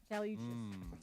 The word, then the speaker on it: Cali: Calli Uchas. Is that how you pronounce her name? Yeah, Cali.